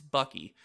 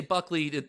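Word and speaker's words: Buckey: Ray Buckley or Bucky I kept writing Buckley when I typed this up it's Bucky so if I say Buckley no I'm just being myself and mispronouncing words or we would assume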